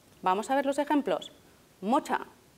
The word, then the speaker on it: Mutter: Mocha, U breve, madre.